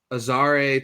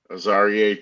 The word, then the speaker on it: Azareye'h: Moving on to our third round pick, we took Azareye'h Thomas. Am I pronouncing that correctly? Azareye'h Thomas, yeah.